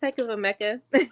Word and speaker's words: Hecava Mecca: It's Hecava Mecca.